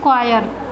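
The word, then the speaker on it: choir: इसका प्रोनाउंसिएशन है फ्रेंड्स क्वायर, क्वायर।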